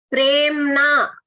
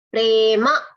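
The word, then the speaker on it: प्रेम: That's the difference. When you are pronouncing in Hindi, you will pronounce this as Prem. Prem. In Sanskritam, if it has to become Prem, what has to happen? What will be here? There will be a halanta.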